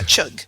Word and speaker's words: Chugh: and your last name is Chuck Chuck yeah chug it's like the sounding good like uh chug